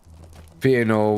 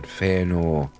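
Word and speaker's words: Fëanor: Fenor was um was an elf, wasn't he? No. What? Fenor Kenya pronounce pronunciation. Feyenor.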